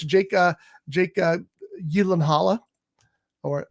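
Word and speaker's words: Gyllenhaal: an interesting cast it's Jake uh Jake uh yanala or gyllen hall or however you want to say it he told Conan O'Brien it's Yen Halla so uh that's how it's apparently properly pronounced uh but it's got Jake in it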